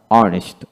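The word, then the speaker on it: honest: ইউ R hour ঘন্টা অর্নেস্ট অর্নেস্ট এখানে এইচ উচ্চারণ দিতে হবে না তারপর অনারেবল অনারেবল তারপর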